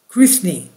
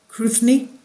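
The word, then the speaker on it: Cruithne: They appear to orbit a point other than Earth itself, such as the orbit path of neo-asteroid Kruithni, C-R-U-I-T-H-N-E. Am I saying it right? Kruithni.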